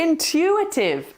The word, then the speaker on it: intuitive: well done everybody okay intuitive intuitive intuitive again we're putting a little silent W in there intutive say it with me intuitive intuitive well done understanding